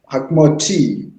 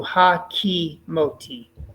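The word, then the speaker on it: הֲקִימוֹתִי: Hakmoti. Give the second syllable its due. Ha-ki-moti. Hakimoti. Very nice.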